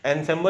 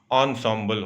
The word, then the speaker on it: ensemble: उसको ensemble नहीं पढ़ते हैं, ensemble, ध्यान रखिएगा, इसका प्रोनाउंसिएशन ensemble होता है।